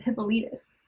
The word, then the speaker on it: Hippolytus: So the problem with this is that researching it, Hippolyte in English is Hippolytus, which is 4 syllables.